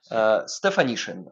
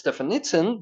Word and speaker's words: Stefanishin: Stefanishin, Lynn Stefanishin, because you said you got to pronounce it like definition, so there's nishin in the end. Stefanishin, I guess it's Lynn Stefanishin, but you see it is typed like this.